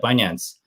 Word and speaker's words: Binance: Yeah, Binance.